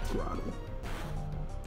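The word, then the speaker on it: Grotle: Is it Grottle or Grottle? I always pronounce it as Grottle. Makes sense, that would be Grottle. Yeah, it's like growth, turtle.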